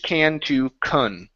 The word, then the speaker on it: can't: So to make the difference, to make sure that someone understands us, we use more of a nasely sound when we say the word can't.